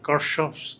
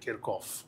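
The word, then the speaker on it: Kirchhoff: যেটার উচ্চারণ তোমরা করো সম্ভবত কারসফস কারেন্ট ল। কিন্তু এটার একচু উচ্চারণ হচ্ছে কেরকফ তো এটারও গভারনিং ইকুয়েশন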